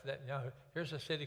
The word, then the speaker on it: Netanyahu: When you add the Yahoo part on the end of it, it's pronounced Netanyahu.